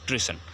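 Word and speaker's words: treason: सो नेल्सन Mandela being tried for ट्रेजन pronunciation होगा ट्रेसन.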